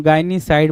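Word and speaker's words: gynaecide: तो गायनीसाइड क्या होगा भाई? किलिंग ऑफ वुमेन क्या बोलेंगे भाई? किलिंग ऑफ वुमेन को हम गायनीसाइड बोल देंगे।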